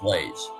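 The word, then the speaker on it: Blase: It's Anglicized or Americanized, and it's pronounced Blaise.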